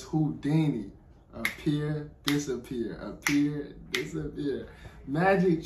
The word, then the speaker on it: Houdini: I know the last ending is Dini. I'm like, how do you say that? So it's Houdini.